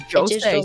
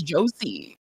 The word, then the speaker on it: josei: pronounce it as josei. Why is she pronouncing it as josie? Because it sounds like a name. Retarded. She keeps saying josie and not josei.